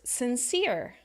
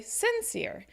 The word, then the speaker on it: sincere: talk about other words sincere right sometimes people say sincere and it's not correct it should be sincere another word education right